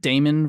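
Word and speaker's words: daemon: are like this like Damon versus demon like da e mo n like people still say demon even though the a is in there so I word I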